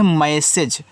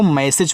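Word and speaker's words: message: भैया जी के बाद यहां जो इ है उसका उच्चारण नहीं होता। ठीक है? इसको मैसेज पढ़ते हैं।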